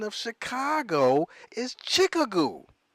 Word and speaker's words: Chicago: pronunciation of Chicago is Chicka goo it even looks like chick ago when you look at it like oh wow however